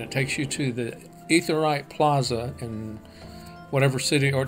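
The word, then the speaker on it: Aetheryte: up in authorized shards ether right is how they pronounce it in the game or you also get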